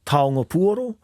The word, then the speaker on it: taonga: first question I asked him if I was pronouncing the word Toro correctly you are correct it's tongo and uh Tong P basically means now T